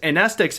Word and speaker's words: amnestics: The M is silent. To counter these cognitohazards, amnestics make you forget.